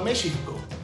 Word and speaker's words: México: Así que la pronunciación original era algo parecido a México. Cuando llegaron los españoles, asignaron la letra X al sonido sh de esa y otras palabras en náhuatl. Pero para el siglo XVII, la gente se acostumbró a pronunciar la letra X como j.